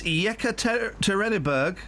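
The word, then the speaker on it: Yekaterinburg: first I want to hear what what's the pronunciation of that Russian town oh for crying out loud it's yeka terberg oh that's brilliant are used I have a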